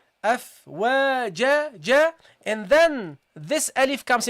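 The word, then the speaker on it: أَفْوَاجًا: And you drop the noon at the end. The noon in pronunciation. Afwajan. You don't say that, okay? So you don't read the tanween. What do you say? Afwaja, ja.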